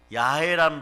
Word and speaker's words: 야훼: 그런데 여러분에게 흔한 건 여호와예요. 그런데 원래 발음은 야훼란 발음이에요.